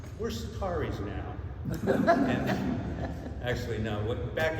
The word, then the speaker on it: Csatari: The pronunciation is Csatari in Hungarian. It means from the battlefront. But when I was growing up in high school, nobody could say Csatari.